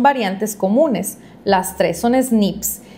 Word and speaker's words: SNP: Se abrevia como SNP por sus siglas en inglés y se pronuncia como SNIP, que se refiere al